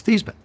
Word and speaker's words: Theismann: He said, "Joe, how do you pronounce your last name?" I said, "It's Theismann."